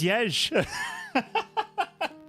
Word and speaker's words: Jez: This is Yej. Which is spelled J-E-Z, by the way.